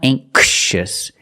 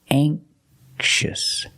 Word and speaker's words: anxious: light and this word anxious anxious has a soft k sound it's not anxious it's a softer K anxious anous anxious has two